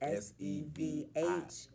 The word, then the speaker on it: Sevhn: 7 steps, but it's spelled like my name. And it's Sevhn. Oh, HN. I thought that was an I. No, that's a Okay. H. So it's Okay. Sevhn.